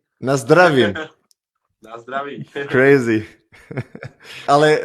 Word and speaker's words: Na zdraví: Na zdravím.